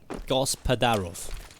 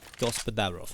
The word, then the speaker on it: Gospodarov: Gospodarov. Gospodarov, okay. Thank you very much, Ofen Thomas, for telling me how to pronounce it.